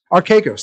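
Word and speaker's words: Archegos: there's like are chaos how do you pronounce that the guy who just blew himself up archigos our caicos thank you our caicos yeah like banks and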